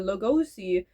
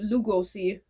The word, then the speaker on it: Lugosi: The missing test footage of his experimental two real film starring Dracula's Bella Logosi. I'm mispronouncing that. I know. Losi. Lugosi.